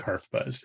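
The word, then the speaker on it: HarfBuzz: the literal persian translation the word open type is pronounced something like harf buzz and the developer being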